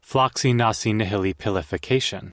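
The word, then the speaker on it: floccinaucinihilipilification: How do you pronounce it? Floxy nosy nihilipilification.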